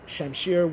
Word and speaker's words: shamshir: It is a European mispronunciation of the word shamshir, which is Persian, which just means sword.